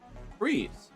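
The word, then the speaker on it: frieze: that word fri trees freeze freeze first thing and you say it like the word freeze but it spells freeze said but like it's completely it's a different word so it's a broad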